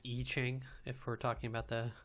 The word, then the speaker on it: I Ching: they recorded their debut album secrets of the I Ching which was well-received by critics and their song